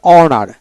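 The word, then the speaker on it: honour: এভাবে উচ্চারিত হবে তারপরে অনার এইচ ও এন ইউ আর অনার এখানে কিন্তু এইচ উচ্চারণ হবে না এইচও এন মানে ও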